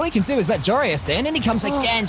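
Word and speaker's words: Joreuz: Jorius. That's how you say it, Jorius.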